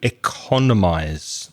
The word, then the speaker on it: economize: And the verb is to economize. That's stress on the second syllable. Economize. We need to economize on our spending.